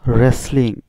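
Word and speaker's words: wrestling: রেসলিং। এখানে দেখতে পাচ্ছ ডব্লিউ থাকার পরেও ডব্লিউর উচ্চারণটা হয়নি, উচ্চারণ হয়েছে আর থেকে, রেসলিং।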